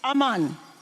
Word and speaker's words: Aman: Haman in French is Aman. Okay? Okay, that's in French. In French, H's are never pronounced, so Aman.